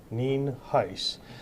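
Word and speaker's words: Nienhuis: Sheriff neenheis is spelled n-i-e-n-h-u-i-s and it's pronounced Neen heis and as my public information officer uh alluded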